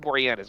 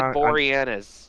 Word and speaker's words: Boreanaz: Yeah, no, David Boreanaz, my bad. I never know how to pronounce that dude's name, so I just call him the dude from Bones.